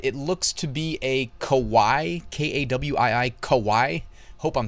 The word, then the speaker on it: kawaii: hit the little enunciate icon, and it was kawaii.